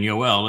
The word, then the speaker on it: Yoel: The O sound in Yoel is from the Wah.